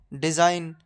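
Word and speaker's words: design: हमेशा साइलेंट रहता है जैसे कि साइन डिजाइन फॉरेन अलाइन इन सब में जी के बाद एन है तो जी साइलेंट होगा वैसे ही हम पढ़ेंगे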